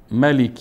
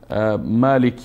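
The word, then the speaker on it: مَالِكِ: عالمین خب الحمد لله رب العالمین الرحمن الرحیم ملک یوم الدین مالک یوم الدین مالک یوم الدین خدشه هارون جان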